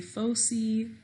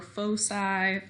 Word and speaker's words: foci: If you're saying it plural, you could say foci or foci or foci. There's lots of different ways people pronounce it. Sometimes people like to say foci so they can say, what do foci? You know, get it? Okay. So whichever way you want to say it is fine.